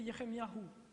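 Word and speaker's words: ירמיהו: du nom de Dieu et leur nom se prononce ainsi pour Ie c'est Eliahou pour Jérémie c'est yeremiahou et et donc le nom de Dieu le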